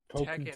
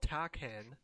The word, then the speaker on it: Tekken: Tekken. It's not called Takken.